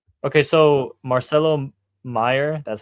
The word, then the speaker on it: Marcelo Meyer: So, Marcelo Meyer, that's how you say his name.